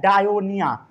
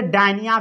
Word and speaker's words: Dionaea: ये जो है सनड्रिव, इसे बोला जाता है डायोनिया। क्या बोला जाता है? कई लोग इसे डायनिया भी पढ़ते हैं, डायनिया या डायोनिया, डायोनिया या डैनिया।